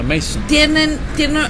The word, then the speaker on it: Manson: Y ahí, en uno, los psicópatas, de hecho, asesinos yo digo Charles Manson, pero es Mason, se pronuncia Mason.